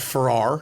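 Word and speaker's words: Farah: it's spelled like this it's pronounced like this like like Farrah Fawcett okay no response in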